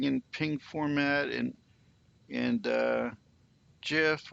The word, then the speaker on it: GIF: ping format and and gif or gif for the people that like the hard g but all the other